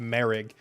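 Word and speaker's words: Moehrig: It's M O E H R I G. And it's pronounced Merig.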